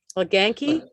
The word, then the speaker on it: LaGanke: LaGanke? That's right. LaGanke? No, you said it right the first time.